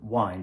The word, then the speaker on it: wind: The first one takes the text of William Shakespeare, Blow, Blow, Thou Winter Wind, or Winter Wind, as we will be pronouncing it, and it features the